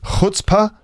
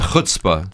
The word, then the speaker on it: chutzpah: Next one, pronounced, is it chutzpah? Chutzpah. Not chutzpah. No, chutzpah. Chutzpah. It's spelled C-H, but you pronounce it chutzpah.